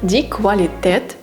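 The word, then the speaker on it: Qualität: домівки далі в нас буква сполука ку та у які разом дають звук кв наприклад квалітет це якість та м зручний наступні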